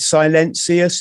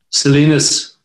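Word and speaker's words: Silenus: um incident that happened was it silencious is am i pronouncing it right salinas salinas sorry yes so salinas was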